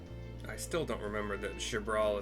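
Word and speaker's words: Xbr'aal: Shabbral is how that's pronounced. XBR apostrophe A. I keep doing XR. Jab.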